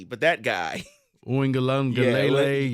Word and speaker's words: Uiagalelei: DJ, I never pronounced his name correctly, but that guy. Uiagalelei. Uiagalelei.